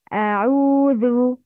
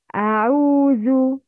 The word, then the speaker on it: أعوذ: The correct pronunciation for thal is, please repeat after me, أعوذ. That's right. The wrong is أعوذ.